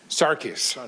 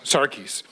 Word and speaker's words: Sarkis: How do I pronounce it? Sarkis. Sarkis.